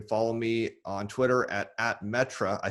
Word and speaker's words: Metre: me on twitter at metra i say it it's pronounced different than spelled m-e-t-r-e-stephen yeah and i